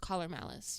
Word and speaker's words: Collar x Malice: I think the way you pronounce it though is just caller malice. You don't say caller x malice out loud.